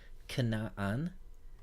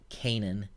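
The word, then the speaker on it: כנען: simply a proper noun cannot on in English we usually say Kanan this is the geographic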